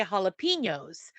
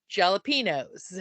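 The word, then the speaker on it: jalapeños: they'll say jalapenos but they always say ha with a h even though it's spelled with a J and they say any before the N because there's a little T on the top of the N little squiggly Mark but I have heard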